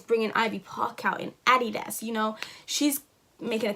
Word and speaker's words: Adidas: Why do y'all say Adidas? Like, it's Adidas. Like, Adidas.